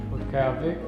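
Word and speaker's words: Utqiaġvik: Although most locals here still refer to this town as Barrow, the indigenous name is actually pronounced Calvik.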